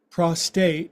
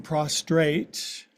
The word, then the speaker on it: prostrate: teach your students to say it right or your new teachers. We're not laying prostate, we're laying prostrate.